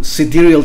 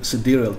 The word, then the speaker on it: sidereal: that's how it's pronounced dear cediral time not side real i mean that's how i've heard some some some students trying to pronounce it but it's ctrl time okay so let's uh